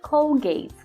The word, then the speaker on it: Colgate: Colgate É isso aí Colgate aí no inglês com gay com gay então a pasta de